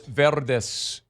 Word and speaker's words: Verdes: like Rancho Palos Verdes Verdes California. I think my pronunciation was pretty good, too. The accent? Rancho Palos Verdes Yeah? Pretty good. Verde. Verdes. You're too You're too sharp on the V. It's Verde.